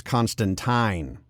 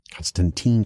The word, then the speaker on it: Constantine: originally did also we are getting the actual pronunciation as constantine as originally intended that's taken my brain a while to get used to constantine constantine yeah changes always make fans nervous but